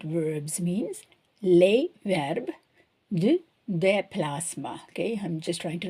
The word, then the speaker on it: déplacement: So meant, déplacement, but we don't pronounce the T, okay, déplacement, okay.